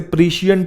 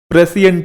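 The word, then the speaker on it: prescient: Word आया था प्रेसियंट, मैं वहां इसे प्रीशियंट बोल रहा था, वो मेरी मिस्टेक है, प्रोनाउंसिएशन इसकी प्रेसियंट होती है, प्रीशियंट नहीं।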